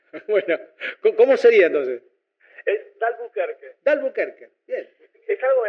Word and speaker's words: d'Albuquerque: Siento que 9 de cada 10 personas lo pronuncia mal, así que no te preocupen. Bueno, ¿cómo sería entonces? Es D'Albuquerque.